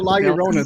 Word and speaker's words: La Llorona: Using the bathroom, like hearing y'all mispronounce La Llorona so bad. I think It's called a La Llorona.